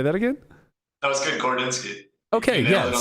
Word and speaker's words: Gorodinsky: I can't pronounce it. Gordo. We have Gordo. Say that again? That was good, Gordinsky.